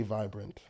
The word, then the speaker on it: Vibrent: I changed the A to a E because phonetically I say vibrant. It's vibrant, yeah.